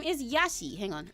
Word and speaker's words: Yashi: His name is Yashi. Hang on. It's spelled like this. Y A S H I. It's fun to stay at the Y hi.